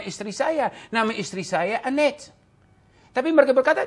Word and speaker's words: Annette: Nama istri saya Annette. Tapi mereka berkata, coba kamu sudah bilang Annette. Saya bilang tidak, saya tidak bilang Annette. Saya bilang Annette.